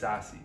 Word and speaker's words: SASE: In 2019, Gartner coined the acronym SASE, and yes, it's pronounced SASE, short for Secure Access Service Edge.